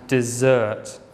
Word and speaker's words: dessert: Okay, the difference really is on the stress. We say desert, stress on the first syllable, and dessert, stress on the second syllable.